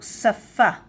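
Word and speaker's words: שָׂפָה: On the right it says that it is a sh but on the left it says that we pronounce it s like sin s. So safa saf and languages safot safot safot saf safot.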